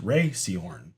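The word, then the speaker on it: Rhea Seehorn: Her name is pronounced Ray Seahorn.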